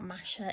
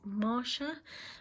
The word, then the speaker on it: Marsha: So we're on chapter 5 now, and I think that I'd been pronouncing this name wrong here. It's not Masha, it's Marsha.